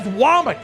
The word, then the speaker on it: Womack: It's spelled Womack, but he says Womack because that's what we do in the South.